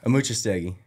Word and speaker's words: Amuchastegui: say Mrs a yeah when you look at it it looks pretty daunting but it's actually mucha staggy it's nice a